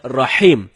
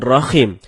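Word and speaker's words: رحيم: ada sebagian kita membaca rahim dengan Rohim ini merubah makna rahim artinya yang maha penyayang sedangkan Rohim artinya Maha merdu bacaan yang benernya Insyaallah dengan huruf ha ha dalam tenggorokan jadinya rahim bukan Rohim kalau teman-teman bacanya Rohim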